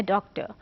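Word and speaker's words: doctor: अब आर, उसको अगर आप देखें आपकी स्पेलिंग्स में आता है, लेकिन हम उसको नॉर्मली बोल देते हैं डॉक्टर, बट अगर हम प्रोनाउंसिएशन वाइज देखें तो उसका प्रोनाउंसिएशन है डॉक्टर. अब ये एंड पे एक जो साउंड आई है तो ये आर की साउंड तो नहीं है.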